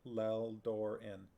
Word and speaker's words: Lelldorin: doing it sharky say heard the pronunciation online it's more like lel d'or in is that not what